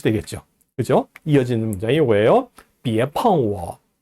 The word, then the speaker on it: 别: 자, 别 제2성으로 발음합니다.